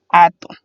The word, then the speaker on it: atún: Y como se tilda la vocal, pues nos quedaría atún. El último ejemplo sería útil. Útil se divide en 2 sílabas también, u y til, siendo u su